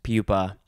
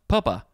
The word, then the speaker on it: pupa: butterfly broadly an insect pupa i want to say the the word looks like it's spell uh pronounced papa but that would have two peas this it's it's pupa 1b the hardened outer